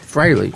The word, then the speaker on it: Frehley: Frehley. I always spell it wrong. A lot of people Everyone pronounce says it it freely, wrong.